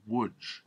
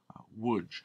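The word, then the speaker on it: Łódź: in the ghetto at woodge here you see woodge l o d z the Polish l pronounced like a w woodge which is just outside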